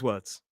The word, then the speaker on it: word: There is no R sound in any of those words. There's no modern British RP accent is what we call non-rotic. We only pronounce the R when it comes in front of a vowel sound.